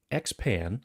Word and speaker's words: XPan: Dave, the first one you're going to talk about is called XPan, but it's spelled XP4N, like there's a play on the spelling Right.